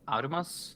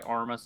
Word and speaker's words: Aurimas: Uh my name is Amas. Uh normally I go by Armas just because it's easier for people to pronounce.